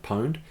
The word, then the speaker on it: pwned: called have I been pwned that pwn edie is pronounced pound have I been pound and pwned just look